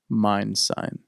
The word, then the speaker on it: MNDSGN: His name is Mindsign, and it's spelled MNDSGN.